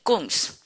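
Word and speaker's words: 孔子: 쿵스라는 분과 라오스라는 분이 있어요. 자, 그럼 제가 쿵스라고 하니까 누구야? 생각 드시죠? 이분 되게 유명한 분이거든요. 공자. 공자의 중국 발음이 꽁스, 라오스, 노자의 중국 발음입니다.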